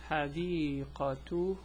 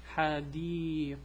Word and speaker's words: حديقة: So this one is pronounced as a T. This one is pronounced as an H, a silent H.